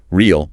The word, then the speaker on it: reel: Reel has a long E sound.